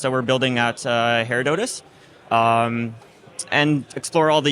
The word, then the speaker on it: Herodotus: a need for hair Donuts yes so actually Herodotus is the father of History uh that's what